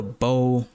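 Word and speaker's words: bough: We're going into When the Bow Breaks. But the bow is spelled U Gh.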